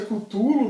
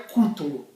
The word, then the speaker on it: Cthulhu: A gente pronuncia Cthulhu, mas eu andei pesquisando, a forma correta de falar é Cthulhu. E sempre falei errado, hein?